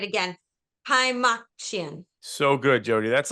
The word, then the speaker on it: Kaymakcian: Hi, Makian. So good, Jody. That's like the best pronunciation of my last name I've ever heard.